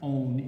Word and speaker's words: -one: So when naming a ketone, the ending -one, that's not 1, it's pronounced -one, is used instead of al.